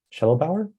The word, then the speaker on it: Shedelbower: right let's see uh someone asked how you pronounce my name my last name is shuttle Bauer so yep that's how you say it uh